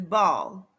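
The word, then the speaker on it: Baal: him Charming tea yes it could be pronounced bail or ball I understand we're not talking about the pronunciation gratitude I was taught that the name is ball it is also pronounced bail b-a-e-l or b-e-a-l I understand that's not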